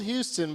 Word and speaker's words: Houston: Yeah, it's spelled Houston, but you say Houston.